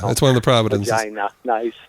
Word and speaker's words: Regina: Regina. Nice. No, that's how it's pronounced.